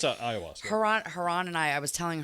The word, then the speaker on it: ayahuasca: I always pronounce it wrong each time I say it. No, it's ayahuasca.